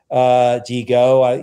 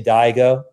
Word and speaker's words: DiGo: The pronunciation that we bring to it is more international. Digo, you know, if we were in Italy or Japan, people would say it right.